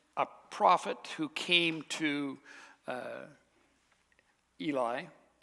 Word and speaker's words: Eli: Remember, we left off, there had been a prophet who came to Eli is how it's pronounced, but everybody calls it Eli, so I'm going to switch back and forth.